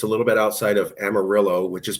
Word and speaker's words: Amarillo: Uh, it's a little bit outside of Amarillo, which is pronounced Amarillo.